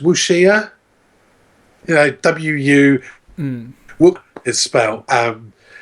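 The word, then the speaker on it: wuxia: it's so it's Paradigm I think it's pronounced wushia you know w-u um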